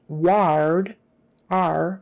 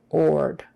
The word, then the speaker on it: ward: you in i know it's spelled with an ar so you would think it would be pronounced ward r but it's not it's or ward or ord and funnily enough is